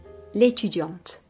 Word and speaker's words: étudiante: Basically, the E is not pronounced, but the consonant before it is going to be pronounced whereas it is silent in the masculine form.